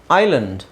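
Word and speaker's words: island: ಹೇಳಿಕೊಡ್ತೀನಿ ಈಗ ಇದು ನೋಡಿ ಇದು ಐಲ್ಯಾಂಡ್ ಐಲ್ಯಾಂಡ್ ಅಂತ ಹೇಳ್ತಿವಿ ಎಸ್ ಸೈಲೆಂಟ್ ಇಲ್ಲಿ ಹಾಗಂತ ನಾವು ಬರಿ ಐ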